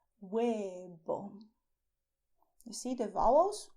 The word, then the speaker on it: huevo: egg, and you say huevo. Huevo. You see the vowels u, e, o. And the consonants. The consonants are H, which is silent. You write it, but you do not pronounce it.